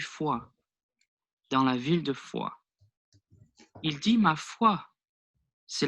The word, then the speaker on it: Foix: Now that's a nice example actually of silent letters at the ends of words, which is the S and the X in this example.